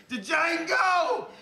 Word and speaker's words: Django: DJANGO! You black son of a... The D is silent here, baby.